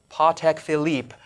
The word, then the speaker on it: Patek Philippe: I know that, you know, if I was going to, you know, affect a French accent, it would be Patek Philippe.